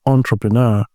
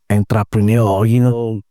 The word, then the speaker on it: entrepreneur: You pronounce the word properly, entrepreneur, not entrepreneur.